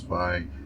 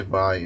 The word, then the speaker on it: Vay: Also, I know I pronounced the name wrong. Everyone says Vay. They actually say Vay in the game.